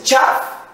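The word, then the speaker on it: שָׁוְא: O substantivo chal que nós dizemos aí, é interessante, ele pronuncia-se tchav.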